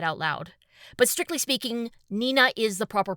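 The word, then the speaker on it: DECO*27: loud, but strictly speaking, Nenina is the proper pronunciation. Apparently, two and seven are his favorite numbers and put together they can be pronounced Nenina.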